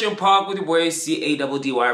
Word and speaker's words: Caddy: This is Fresh and Park with your boy C-A-D-D-Y, pronounced Caddy, where you get all the fresh air that you need.